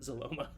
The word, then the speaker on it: Zaloma: Zaloma. Yeah. Yeah. Yeah. Um Zoma rhymes with Paloma.